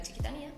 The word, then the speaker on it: Chiquitanía: ¿Qué es la chiquitanía o la chiquitanía? Porque tiene acento en la I.